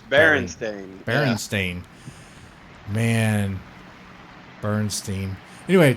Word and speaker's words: Berenstain: So is it Bernstein? Is that pronounced Bernstein? What? No. I've always heard it pronounced Berenstain. But it's Berenstain.